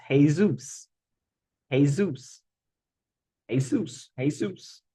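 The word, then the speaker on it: Jesús: do that okay then how do you say Jesus in Spanish Zeus hey Zeus hey Zeus heus Jes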